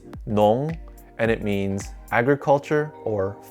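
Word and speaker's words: 农: hat to block the sun this character is pronounced nong and it means agriculture or farmer it is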